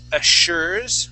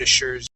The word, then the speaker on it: assures: Let's take a look at assures. Where did assures go? She assures. And the second yeah. So not assures, but assure. With that double S would be here it is. Yeah, an sh sound.